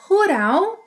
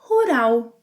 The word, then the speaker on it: rural: And let's not overlook the final L sound that in Brazilian Portuguese is often pronounced as U. Rural, rural, rural.